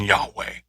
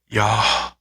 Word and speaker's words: Yahweh: And I saw a guy talk about it, that it's pronounced like you're breathing. Yahweh. Yahweh.